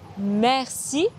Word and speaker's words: merci: Le « est » de « merci » est un son très ouvert, assez proche de la voyelle dans « bet » en anglais.